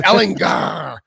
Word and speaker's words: Ehlinger: It's Ehlinger. Ehlinger, baby. Just like Austin Powers, baby.